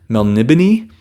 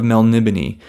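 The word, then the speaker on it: Melniboné: I believe I heard Jimmy Nuts say Melnibone. I believe I heard that, Elric of Melnibone.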